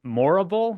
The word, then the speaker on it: Morrible: muddled but it's it's Madame morrible spelled like horrible but with an M so that's kind of